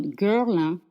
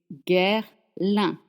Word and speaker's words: Guerlain: In French, the letters ER don't make the sound It's not Guerlain, it's Guerlain. And the sound un is spelled AIN in this case. Again, your mouth is closed and your lips are stretched.